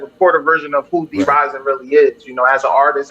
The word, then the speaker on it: Dee Rizen: I've been mispronouncing his name the whole time. I'm talking about D Risen. Nah, it's D Rising.